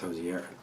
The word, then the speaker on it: Hozier: to watch two videos to see how he pronounced it it's josier I'm josier I'm josier this song is like